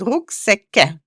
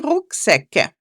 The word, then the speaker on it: Rucksäcke: So, Rucksack and Rucksäcke. So, the A becomes an umlaut A. So, we put two dots again on it, and it's pronounced Ä instead of A.